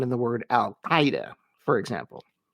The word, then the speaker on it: al-Qaeda: And the beginning sound is not a K, but a Q, making this almost impossible to pronounce.